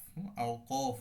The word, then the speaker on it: আওকাফ: আমরা আলোচনা করব রুমুজুল আওকাফ আওকাফ হবে মূল উচ্চারণ যার অর্থ ওয়াকফের চিহ্ন